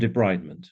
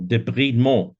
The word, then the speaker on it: debridement: a good idea for wound debridement or debridement, depending on your penchant for pronunciation.